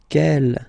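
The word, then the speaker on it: quel: And the good news is that you will pronounce them the same way. All right. So kel kel kel and ke.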